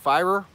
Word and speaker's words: Feyrer: So my last name is pronounced Feyrer. So it's like fire with a "r" on the end of it.